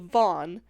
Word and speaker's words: Vaughn: But it was stemmed from the fact that the kid's name was Steve Vaughn, spelled v a u g h n, a long six letters with only one syllable.